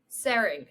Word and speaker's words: Tsering: awesome uh before we get started saring am I pronouncing your name right yes that's correct perfect